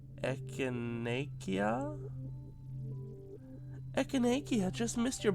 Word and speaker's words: echinacea: do you say it echinacea oh okay echinacea yuku over the baby girl and wish Tammy